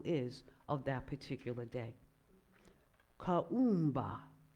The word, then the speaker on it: Kuumba: Kaumba, that's how you say it in Swahili. Kaumba, exactly.